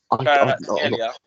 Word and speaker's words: Kvaratskhelia: Kvaratskhelia.